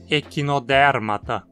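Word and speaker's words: Echinodermata: Não é o mesmo tipo de ata dos outros nomes, e aqui o A é curto. Então precisamos dizer equinodérmata.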